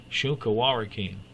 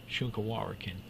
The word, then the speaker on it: Shunka Warakin: And they called it carries off dogs, Shunka Warakin. Shunka Warakin. Well, there's how it's spelled right there.